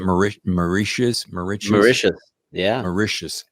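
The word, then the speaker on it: Mauritius: micius marous marous yeah macious it's like delicious that's what I need to remember it is it's like delicious macious is delicious yeah macious is delicious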